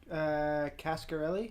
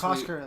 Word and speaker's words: Coscarelli: How do you pronounce his last name, Vince? Cascarelli. Cascarelli. Again, made this Coscarelli.